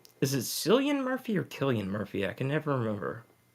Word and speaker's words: Cillian: it's Killian Murphy, even though it's spelled with a C.